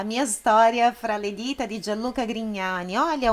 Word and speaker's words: Grignani: É isso, nós encerramos por aqui a nossa aula sobre pronúncias da língua italiana baseadas na canção La mia storia fraledita di Gianluca Grignani.